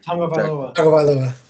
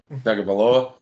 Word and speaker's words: Tagovailoa: Tagovailoa. Tagovailoa. Do you guys practice that? Because it doesn't seem like that's how you say it.